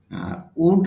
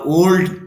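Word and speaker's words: would: আই শব্দের অর্থ হল আমি উড লাইক শব্দের অর্থ হল চাওয়া। উড like. এখানে ইয়াল আছে। খেয়াল করেন। উচ্চারণটা হবে না। উড like. উড আবার ওল্ড লাইক বইলেন না উড লাইক উড লাইক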